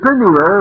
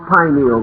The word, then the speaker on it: pineal: years have passed uh the pineal or pineal gland either pronunciation is correct located in the central